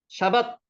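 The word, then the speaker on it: שבת: 샤밧 해보세요. 샤밧. 이 단어는 중요한 단어이기 때문에 꼭 기억해 놓으셔야 됩니다. 샤밧, 샤밧, 샤바트라고도 하는데 샤밧이라고 읽어보세요. 샤밧.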